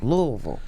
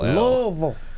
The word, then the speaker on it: Louisville: down there louisville louisville okay louisville vol like v-u-l louisville um more donnie baker